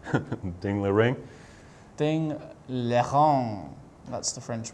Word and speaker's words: Ding Liren: Let's briefly check in if something happened in Ding Liren against Grishuk, right? Ding Liren. Is that the correct pronunciation? No. Ding Liren.